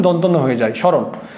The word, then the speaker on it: স্মরণ: স্মরণ শব্দটি আমরা যদি একদম শুদ্ধ উচ্চারণের নিয়ম অনুযায়ী আমরা করি, তাহলে শব্দের আদিতে ম ফলার উচ্চারণ হয় না। প্রথম নিয়ম, শব্দের আদিতে ম ফলার কোনো উচ্চারণ হয় না, তাহলে ম ফলার উচ্চারণটি হবে না।